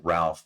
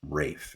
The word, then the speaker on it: Ralph: So this is we would pronounce it Ralph, but in the UK, RALPH is Rafe, is how they pronounce it.